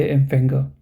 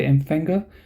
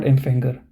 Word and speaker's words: Empfänger: Here you will don't have to pronounce the R part, so you can just say the Empfänger. Okay, the Empfänger, not Empfänger. So the Empfänger.